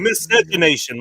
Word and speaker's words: miscegenation: I'll be the master of miscegenation. I pronounce no it. deal. More plenty of Yeah. fish for bacon. Miscegenation.